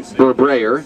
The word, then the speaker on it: Barberi: My name is Barberi. That's the correct pronunciation.